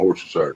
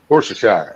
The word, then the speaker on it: Worcestershire: Worcestershire. Yeah, Worcestershire sauce. I would never say Shire. That's just weird.